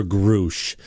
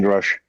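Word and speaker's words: Grusch: were here because actually I did ask Lou if it was Grush or Grouch. And I think that Lou said Grush started changing the pronunciation of his name from Grush to Grouch at a certain time. Not to my knowledge. It's always been Grush.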